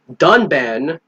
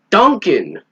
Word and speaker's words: Dunban: that the reviewer pronounced dunban Duncan there's no C in his name but the [ __